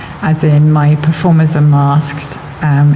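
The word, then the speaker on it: masque: Um there's a nice in between the the mama's play and the opera, there's a form called mask um which is spelled m a s q u e and mask is a kind of masked sung theater.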